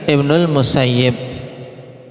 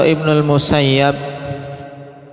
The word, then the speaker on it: Ibnul Musayyib: Cara bacanya Ibnul Musayyib atau Ibnul Musayyab inir. Musayyib atau Musayyab? Tayib. Yang benar ikhwan Ibnul Musayyib dengan mengkasrah. Walaupun banyak beredar juga pembacaan atau membaca dengan musayyab cuman karena Said sendiri